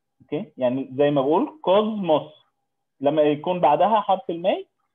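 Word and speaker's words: κόσμος: اوكي، يعني زي ما بقول كوزموس لما يكون بعدها حرف المي فنقول كوزموس، ما بقولهاش كوسموس، بنقولها كوزموس.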